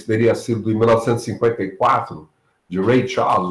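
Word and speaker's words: Ray Charles: sido de 1954 de Rey Charles ou Rey Charge, como a gente prefere pronunciar aqui. I've got a woman, baseado numa música de igreja, I've Got a Savior.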